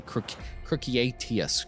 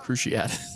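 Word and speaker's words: Cruciatus: __ ] is a CR catus curse stop stop you're saying it wrong cruciat yeah cruciat there should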